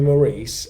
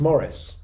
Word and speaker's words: Maurice: So all this time I've been calling you Maurice, and Charlie tells me it's pronounced Morris.